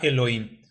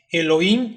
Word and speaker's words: Elohim: primero vamos a entender cómo se pronuncia el plural por qué decimos el login que termina con y m el plural del hebreo